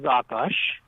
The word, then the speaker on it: Akash: So, Akash, am I pronouncing that correctly? Yes, sir. It is Akash.